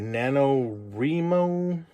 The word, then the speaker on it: NaNoWriMo: And then for the first time ever, that I know I'm going to say it right, NaNoWriMo.